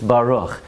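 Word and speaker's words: ברוך: mispronounced every single word it's not Bara it's Baruch it's not Atta it's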